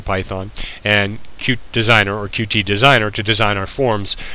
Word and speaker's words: Qt: with QT designer or cute however you pronounce it there are two different ways a lot of people say cute uh I say QT who cares anyway uh